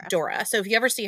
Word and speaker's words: Dore: It's Dora, not Dolores. No, Dora. Dora. Okay. Dora. And it's actually spelled D O R E, but it's German, so it's pronounced Dora.